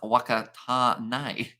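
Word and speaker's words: Whakatāne: And Whakatane is pronounced Wakatane.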